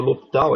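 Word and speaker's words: L'Hospital: Apesar de ter um S aí no L'Hopital, aí, esse S não é pronunciado.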